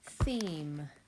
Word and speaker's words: theme: I see the one vowel, one consonant with a silent E at the end. Theme. I'm going to put the theme underneath our long E word column, because it is following our long vowel silent E pattern.